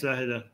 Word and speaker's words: Zahedan: So there was a city, I'm not sure how to pronounce it. Is it Zahedan? Yes, Zahedan.